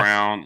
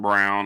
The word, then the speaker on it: Braun: Okay, so everybody pronounces it different. I say Christian Braun. A lot of people say the Christian RSI. Brown. Yeah, Brown. A lot of people say Christian Brown or whatever.